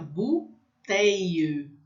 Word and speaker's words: bouteille: Então, BU tem som de U, fica bouteille, bouteille. Então, fica um I comprido, tá? Tem um monte de letra aí, eu não vou pronunciar todas, porque o U vai ter som de U e o I, L, L vai ter um som de I comprido, bouteille.